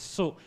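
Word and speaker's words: 素: the Chinese W uh the Chinese pronunciation is Su s Su so if uh most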